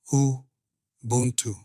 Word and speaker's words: Ubuntu: Ubuntu, pronounced Ubuntu.